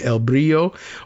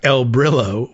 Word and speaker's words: El Brillo: I don't know whether that's pronounced the Spanish way, El Brio or the anglicized way like the cleaning product El Brillo way, but you can find it either way.